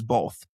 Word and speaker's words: both: They say it how it's spelled, but people from the north typically add an L in there.